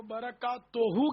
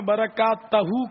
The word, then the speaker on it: برکاتہ: تو برکات توہو کے بجائے آپ نے برکات تہو کہا، تو یہ اس کی بھی تصحیح فرما لیں. برکات توہو صحیح تلفظ ہے.